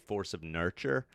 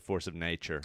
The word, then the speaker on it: Force of Nurture: My first one was called Force of Nurture. Oh, I get that. But everybody mispronounced it Force of Nature.